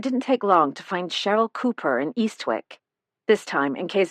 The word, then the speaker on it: Cheryl: Helen lives in Eastwick with her daughter Cheryl. She pronounced Cheryl with a ch like Cherry.